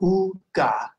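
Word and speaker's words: עוגה: I think you can pronounce that fairly easily. Ga. Well done. Let's put it together now. Ooga.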